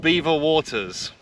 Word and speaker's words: Belvoir: So we've come to a place called Beaver Waters, even though it's spelled Belvoir.